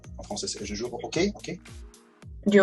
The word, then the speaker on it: hockey: Je joue au hockey. Du hockey, oui. On juste prononce pas le H, mais c'est ok.